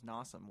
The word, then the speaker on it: Nossum: Well, my last name's Nossum, which rhymes with awesome, so...